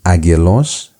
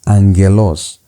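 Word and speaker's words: άγγελος: The first G turns into an N.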